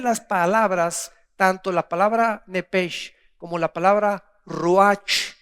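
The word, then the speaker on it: נפש: Y la Biblia le llama Nepesh. Nepej, porque la CH en el hebreo se pronuncia como J, Nepej, que se tradujo alma.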